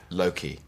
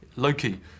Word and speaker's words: Loki: Well, he's Welsh, so maybe that's. I think he says Loki, Okay. like that in his deep gravitas, sincere way. Yeah, there you go, Loki.